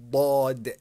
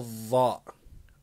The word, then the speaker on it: ضاد: Is this a ضاد or a زاد? It's a ضاد, not زاد. A lot of people in many, many countries, they pronounce a ضاد as a ضاء, which is incorrect.